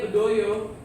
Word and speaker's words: Bedaya: Tulisannya Bedaya tapi dibacanya Bedoyo, ya.